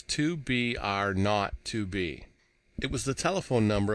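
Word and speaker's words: 2BR02B: were supposed to call the zero in the telephone number he pronounced not the number was 2BR not to be it was the telephone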